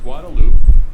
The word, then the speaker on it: Guadalupe: The stretch of roadway known as the drag is the portion of Guadalupe Street that extends, strictly It's pronounced speaking, Guadalupe.